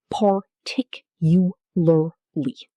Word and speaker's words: particularly: Stress on the second syllable. Tick. The lar in the middle is reduced to ler.